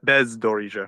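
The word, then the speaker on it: бездоріжжя: Bezdorizhia or Bezdorizhia, right? Bezdorizhia. Yeah. Like it rhymes with Zaporizhia. Bezdorizhia.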